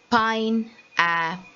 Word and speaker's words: pineapple: Pineapple. So, sorry, I. Now again see in pine, the E doesn't have a sound at all. So pineapple.